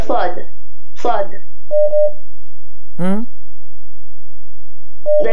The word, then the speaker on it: ص: Sad, the letter Sad, it is Sad, not Suad. It is Sad, not Suad. Such as, إِنَّ اللَّهَ مَعَ الصَّابِرِينَ وَاصْبِرْ وَمَا صَبْرُكَ إِلَّا بِاللَّهِ وَأَقِمِ الصَّلَاةَ طَرَفَيِ النَّهَارِ وَأَقِمِ الصَّلَاةَ طَرَفَيِ النَّهَارِ الصَّلَاةَ. So the proper pronunciation of the Sad is Sad.